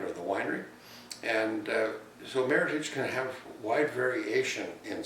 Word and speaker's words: Meritage: to my heart and it is pronounced meritage it sounds like heritage because it merits a